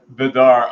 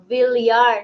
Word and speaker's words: Villar: Luck Vidar on Facebook. Luck Villar, not Vidar.